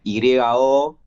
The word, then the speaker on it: Yonen: La temática, obviamente, ya el título se escribe Yonen, o sea, es una parodia al género shonen. Sí, Y que al mismo tiempo tiene mucho de argentino porque la Y se pronuncia como Y, entonces es claro, como